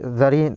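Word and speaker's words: czarina: তারপরে জারিন, জার, জার বলেছিলাম Russia রাজাকে জার বলা হয়, তাহলে রানীকে কি বলবো? জারিনা, জারিনা। এই বানানটা লক্ষ্য করো, সি দিয়ে শুরু হয়েছে অথচ জেডের উচ্চারণ প্রথমে আসছে।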